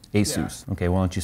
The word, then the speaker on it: Asus: I asked them once, is it Asus or Asus? And they said, just remember Dr. Seuss. Asus.